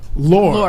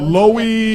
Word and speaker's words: Loehr: Loehr, okay. Like rhymes with door. I've been told Loey, Yeah. I've been told lower, like I've been all kinds of things.